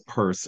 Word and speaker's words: Purse: And I will say for Charles Mills Purse, it's pronounced, and this is like the gayest thing, the gayest correction that I could make. It's purse.